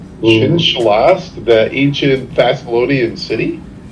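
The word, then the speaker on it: Xin-Shalast: Zing Shalast. Chin Shalast.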